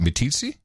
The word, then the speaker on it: Meeteetse: Meeteetse like Meeteetse fly how do you pronounce it me TC and like teach me teach me ITT sir tom